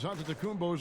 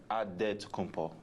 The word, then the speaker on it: Antetokounmpo: the spelling of Giannis Antetokounmpo's last name. He helped set the record straight of how you pronounce it. The Nigerian way, you gotta say with a D, so it's Antetokounmpo.